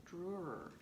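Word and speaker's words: Dürer: oldest self-portraits this guy his name is albert durer that's how you pronounce it but he painted himself of quite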